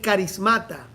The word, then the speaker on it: charismata: Pero la forma de escribirlo es charismata. Sin embargo, se pronuncia carismata.